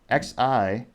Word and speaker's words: Xi: Xi. Ooh, so close. So the leader of China, Xi, is spelled Xi.